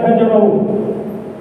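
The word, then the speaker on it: هجر: Bahkan dalam hadis haram hukumnya hajar. Hajar itu pakai ha jim sudah pendek bacanya. Kalau panjang lain kalau hajar itu hijrah.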